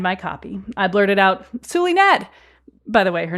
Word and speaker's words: Zulynette: want to call her zulet but it's pronounced with an S suet but we'll get to the power of names a little bit later I blurted out suet how about you come